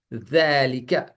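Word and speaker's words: ذلك: जब जाल बोल रहे हैं, अब दाल दाल, तो आपकी जबान दो दांतों के बीच में आनी चाहिए इस तरह, दाल है, ज़ैलिका, तो सही प्रोनाउंसिएशन है।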